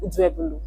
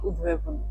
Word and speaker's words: Uduebholo: So there are actually two pronunciations I've heard before. So one is Uduebholo. Uduebholo. Then there is the BH. They say it's a diphthong. Oh. So it can be like Uduebholo.